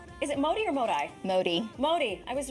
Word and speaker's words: Modi: Modi. Modi, I was right. My default is pronounce something in Spanish.